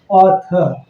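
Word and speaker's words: author: लेकिन यहाँ जब किसी वर्ड के लास्ट में आर आता है तो उसकी उच्चारण इतनी शॉर्ट में होती है कि वह उच्चारण हल्की सी सुनाई पड़ती है, ना के बराबर।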